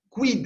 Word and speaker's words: quid: El, ningún problema, M, N, O, larga o breve, P, no hay dificultad, la Q la vamos a pronunciar siempre junto con la U, entonces vamos a decir quem, quis, quid, el quid, cuando decimos